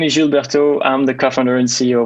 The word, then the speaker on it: Gilles Bertaux: right all right i i'm gonna hold go old french and pronounce it by the way so it's gilberto interesting thing i was